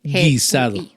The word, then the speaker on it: guisado: G-U-I, guisado.